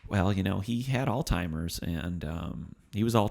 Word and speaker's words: Alzheimer's: lauren alzheimer's degr disease it's not alzheimer's disease which i've heard people say before one of our friends